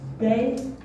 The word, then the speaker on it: день: День.